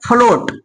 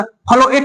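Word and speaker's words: float: silent है ठीक है अगर ए साइलेंट नहीं होता तो क्या निकलता इसका पशन फलो एट निकलता है फलो एट जो कि गलत हो जाता है ठीक है अगर यहां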